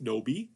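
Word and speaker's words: 노비: Nobi. This is the Chinese characters that are in Korean are pronounced nobi.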